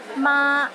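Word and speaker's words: 馬: sentences too for example ma in the first tone means mother while ma in the fourth tone means linen and Ma in the fifth tone means horse don't get them mixed up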